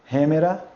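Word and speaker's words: ἡμέρα: Olha, observe, se tem sinal aspirado, vai ter um H e vai ter som de um R fraco.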